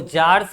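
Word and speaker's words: czars: तो जार्स कहा जाता था। यहाँ सी साइलेंट है बुआ।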